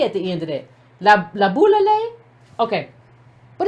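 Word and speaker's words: Laboulaye: La boule. Okay, but it's a shay. It's just pronounced la boule though.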